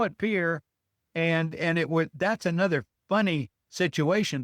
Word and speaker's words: Pierre: Luckily, in North Dakota, I discovered that they pronounce that as Peer, Peer. And when I grew up in 5th grade and we all had to learn the capitals, I Yeah. mean, we learned that as Pierre.